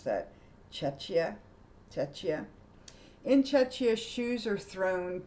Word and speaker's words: Czechia: It's Czechia. Czechia. How embarrassing. I should know how to pronounce that. Czechia.